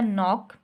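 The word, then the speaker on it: knock: हम नॉक करते हैं, अब इसको हम नॉक बोलते हैं, कि नॉक नहीं बोलते, तो यहाँ पर के जो है वो साइलेंट हो गई, ठीक है बच्चों।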